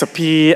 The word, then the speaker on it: Sophy: like my dad, Sapun, SOPHON, and my ex, Sapi, SOPHY, and her cousin, Sapani, SOPHANNY, and my best friend, Sapik, SOPHEAK, but it's pronounced more like Sapet.